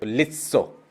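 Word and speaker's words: лицо: उसके बाद ल, ई, स, ओ, लित्सो, लित्सो।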